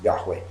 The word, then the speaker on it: Yahweh: okay it's not some people who pronounce it yahweh the fact is that the majority of experts linguists and biblical scholars agree that the most likely pronunciation for the grammar trump is yahweh okay and nobody believes in the word jehovah